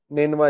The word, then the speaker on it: نینوا: نینوا اس کا تلفظ ہے NINEVEH.